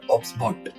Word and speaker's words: OBSBOT: मी आता ओबीएस बीओटी त्याला प्रोनन्सशन कस करतात तर ऑक्सबॉट असा हा जो एक टायनी टू